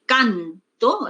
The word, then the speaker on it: canto: Entonces tenemos aquí, mira, de canto, la mayor fuerza de voz, pues que está en la penúltima sílaba, no pasa a la última sílaba, ya tiene un significado distinto.